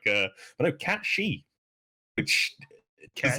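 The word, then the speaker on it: Cait Sith: It's not pronounced Kate Sith. It's pronounced Cat She. It's like an Irish Gaelic term, and like someone told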